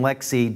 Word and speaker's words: LXC: no idea when we say Lex D and Lexi don't go Google le XD it's lxd and lxc but it's pronounced in the community as Lex T and